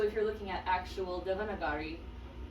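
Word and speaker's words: Devanagari: Um, so if you're looking at actual Devonagari, uh, Devonaguri, yeah, Devonaguri is how you pronounce it.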